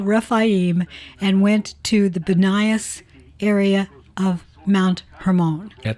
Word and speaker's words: Banias: Judd Burton did his doctoral dissertation on the religious history of Banias, called Banias now because of the Arabic pronunciation of the P vowel, formerly Panias because of the Greek god Pan.